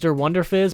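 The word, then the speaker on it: Der Wunderfizz: through wonder jizz and i know it's pronounced der wonder fizz but that's not as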